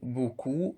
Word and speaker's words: beaucoup: Au printemps, il a beaucoup, pour le mot beaucoup, on n'a pas prononcé le P aussi.